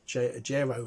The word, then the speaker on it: JAERO: software is something called j aero j-a-e-r-o j-ro as i pronounce it um a-cars we've